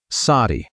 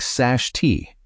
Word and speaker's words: sati: Sati, say it like sashti, does not mean what you have been told.